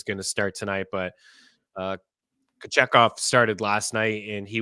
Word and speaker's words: Kochetkov: Kochetkov, we talked about Kochetkov and Kochetkov, I suppose, is the proper pronunciation for him.